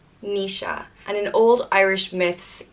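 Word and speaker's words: Naoise: which means warrior and is pronounced me sha Nisha and an old Irish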